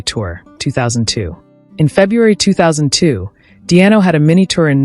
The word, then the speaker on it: Di'Anno: joke for his name Paul Dio is pronounced in a similar way to the nickname above Norwegian live band 2008